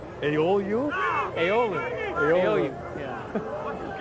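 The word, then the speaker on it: Agaoglu: I asked Dan McNally, I said, how do you pronounce his name? He said, carefully. He said, all the consonants are silent. Ayolu?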